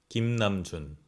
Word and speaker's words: 김남준: You could be pronouncing it right, but this is the real pronunciation. RM, 김남준.